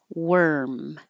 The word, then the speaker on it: worm: long as possible worn and now this one that is actually spelled with an O sounds like an eer and you have to round your lips for the W but you don't keep them rounded were worm earth worm